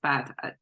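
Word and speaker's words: 卜: Don't know exactly what that is, but that is pronounced as a bu.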